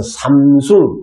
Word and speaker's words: Samsung: SAM 같은 경우는 3으로 읽으시면 되고요. SUNG는 숭으로 읽어주시면 됩니다. 그래서 삼숭, 그게 스페인어 발음이라고 보시면 됩니다.